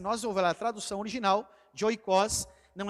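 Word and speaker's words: οἶκος: salvar os nossos oó é uma palavra grega tá ela se pronuncia oicos nós vamos falar muito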